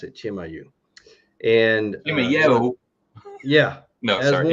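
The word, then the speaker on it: Chimayo: been Chim IU Miu it's c-h-i-m-a-y-o and they pronounce it chimayu and yeah yeah no that's one of the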